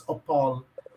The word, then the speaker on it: Opole: went to it's not, I'm not going to pronounce well because I forgot how you taught me. It's Opole.